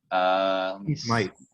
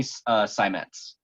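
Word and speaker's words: Seimetz: Smythe. Sorry? It's Amy Smythe. I forgot. I don't know how to pronounce her last name.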